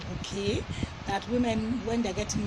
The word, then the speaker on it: bouquet: Nigerians to pronounce it bouquet, but it's actually bouquet.